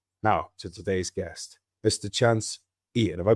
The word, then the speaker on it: Chance Eaton: Chance Eaton. Have I pronounced that right, mate?